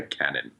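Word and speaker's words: Canaan: NBA draft prospects, and it is Isaiah Cannon. Yeah, but like these are doesn't matter. Nope, there's no teleportation. There's no trains. It's Cannon. That's what we're running with.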